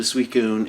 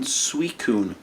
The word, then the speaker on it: Suicune: sequence you seen in suicune suicune sui kun it's spelled s-u-i-c-i-n-e it shouldn't be sweet it should be like sweet sign or suicin or it just makes